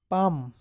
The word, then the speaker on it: palm: cut it in half cut it in half Palm p a l m portal a bird is